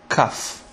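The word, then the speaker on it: כ: half you pronounce it cuff like K in English without the DOT it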